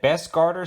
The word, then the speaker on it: Bestguarder: video on some new digital night vision that best Carter sent out to the channel that is how you pronounce their name and they actually have a